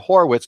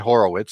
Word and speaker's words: Horwitz: so we're set and I think it's mr. Horwitz not Horowitz so I apologize to Phil